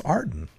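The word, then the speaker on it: Aarden: How else would you pronounce Arden? It's A-A-R-D-E-N, Arden.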